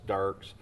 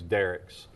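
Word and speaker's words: Dierks: If you're going from Little Rock, it's Dirks. If you're coming from Texarkana, it's Derricks. Depends on what the pronunciation.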